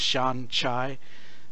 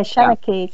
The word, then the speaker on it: Seanchai: I still see it as Shan Chai, but Yeah, I'm the same. I can't Yeah. get it into my head that it's not Sanchai or something. I just right, go right. go with what it looks like phonetically, as it were. But it's Seneki, is that right? Is that right, Thirza? Yeah, Shanaki. Yes, Shanaki they call it.